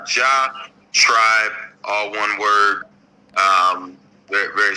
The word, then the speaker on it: Elyjah Tribe: my Instagram it's spelled with a little instead of an eye so e l y j h like ja tribe all one word um